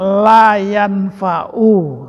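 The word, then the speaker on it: لا ينفع: Hanya itu barangkali karena udah kebiasaan, sehingga itu dibacanya seperti sukun, padahal nggak sukun tuh harusnya. Iya. Allahumma inna na'udzubika min ilmin la yanfa'u. Harusnya gini.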